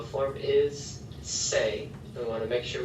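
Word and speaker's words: sé: form so saber in the o form is say we want to make sure we have an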